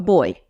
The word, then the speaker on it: buoy: And I was like, a boy. And I spell the word out, like say it phonetically, it says boy.